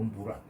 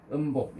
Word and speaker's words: 음부: 그러니까 그래서 이걸 음복이라고도 읽고 음부라. 옛날에는 음복이라고 읽었는데 한자를 정확하게 보면은 뭐 한 옥편에 쳐서 이게 덮을 부니까 음부라 그러거든 하는데 음부 열애장. 음복이라고 읽는 게 편하죠. 읽기는. 그렇죠. 음복 열애장인데 그냥 덮을부, 덮을복 이렇게 보면 돼요.